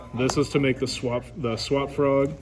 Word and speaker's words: Swap Frog: So from there, this is to make the swap frog. I always say it wrong. I keep saying swamp.